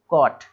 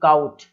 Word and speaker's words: caught: अब इसको भी हम किस तरीके से पढ़ेंगे, कॉट, ना कि काउट या काउ, मतलब आप यू लगा के नहीं पढ़ पाएंगे, डायरेक्ट पढ़ें कॉट, है ना, कपड़ा, सॉरी पकड़ा।